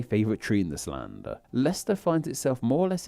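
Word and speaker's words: Leicester: And it's like, oh, Lester, that's inappropriate, too. I apologize if your name's Lester, but you know what rhymes with it.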